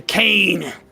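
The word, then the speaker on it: Caine: Kane is busily I like that Kane is spelled C A I N E, but he's called K A N E in the actual thing on the right.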